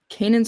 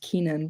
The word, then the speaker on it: Kanan: further north, Duth native Kanan Smith. I always just thought his name was probably pronounced Kenan, but recently everybody says it's Kanan. So Kanan.